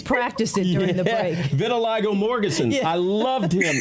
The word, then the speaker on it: vitiligo: All right, explain, how do you pronounce the skin ailment that he had? Vitiligo. Vitiligo, yes.